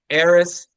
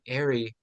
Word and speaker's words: Aierress: Your first name is pronounced Airy or Aierress. Like an heir Aries. or an heiress. Okay, Aierress. I've been pronouncing your name Airy this whole time.